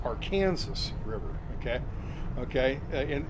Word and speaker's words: Arkansas: Okay, but in Kansas, it's pronounced Arkansas River. Okay, and it's Arkansas everywhere else, but in Kansas, it's the Arkansas River. Okay. So Kansas got to put their emphasis on the Kansas part.